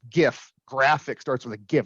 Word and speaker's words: GIF: GIFs are funny, and it is pronounced GIF.